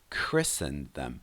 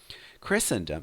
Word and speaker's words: Christendom: Christendom. Don't pronounce the T there. Christendom refers to the Christians in all countries around the world, or the kingdom of Christianity.